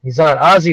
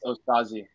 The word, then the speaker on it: Osaze: Ozzy, what's up, brother? Hello, how you doing? It's pronounced Osaze. Osaze? Yes, Osaze. Perfect.